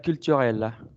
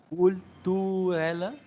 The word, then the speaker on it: culturelle: Haga cuenta que va a silbar, pero cuando tenga la posición de los labios para silbar, en vez de pronunciar una U, pronuncia una I y el sonido te sale.